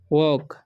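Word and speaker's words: walk: इसे पढ़ेंगे हम वॉक, वॉक या वॉक पढ़ते हैं, ठीक है। एल साइलेंट रहता है, ठीक है, तो ये बात आपको ध्यान रखना है।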